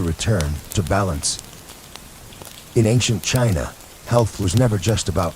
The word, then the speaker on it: qi: In ancient China, health was never just about flesh and bone. It was about energy. The invisible, vital force called qi, pronounced chi, flowed through every living being.